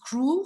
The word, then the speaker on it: CREAW: She's the executive director of the Center for Rights, Education and Awareness, and that is pronounced CREAW, C-R-E-A-W.